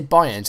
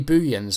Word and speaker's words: Buyens: Charlton played, and it was something like, they didn't say Bynes, it was like Yoni Buyens or something like that. I think that's how you say it.